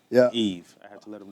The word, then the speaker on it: Yves: So, yeah, but just Yves. I tell people all the time, the S is silent, Yeah. Yves.